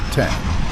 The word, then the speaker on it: X: Textron put the Citation 750 or X pronounced 10 into production in 1996